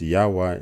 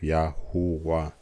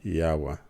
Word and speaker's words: Yahwah: as written in Hebrew should be pronounced yahwa instead of yahua and you will see the significant difference uh that should indicate that uh the correct pronunciation should be ywa and um I think